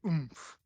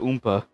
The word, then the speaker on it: Oomph: By Oomph. But I'm not gonna lie, I was gonna pronounce that Oompa.